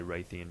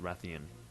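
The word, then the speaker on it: Rathian: theme or a Ratheon I say R a theme because I've picked up bad habits I believe it is correctly pronounced Ratheon because I mean of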